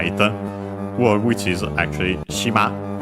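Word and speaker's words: しま: word which is actually shima. Uh I've mentioned it uh no we have actually seen it also in previous series I think shima means island accented on the last syllable uh in this series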